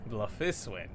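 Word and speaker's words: Bloefhiswyn: I am Merlwib Blufisvin, Admiral of Limsa Laminsa. Blufiswin.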